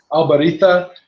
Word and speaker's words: Albariza: If you wanted to be purely technical, and my staff at the shop always drives them crazy when someone pronounces it the way they would in Spain, like Albarita is how you would say it.